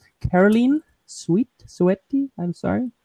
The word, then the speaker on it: Soete: and I hope I say this right, Karolien Soete. I'm sorry. How do you say it? Soete.